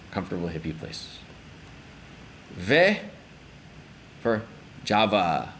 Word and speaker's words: Jawa: hippie places ve for Java or Jawa depending on your pronunciation So This Island right